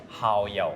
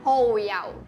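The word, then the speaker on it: 蠔油: oyster sauce Hau yau It's pronounced "hou yau" I think coriander is important but some people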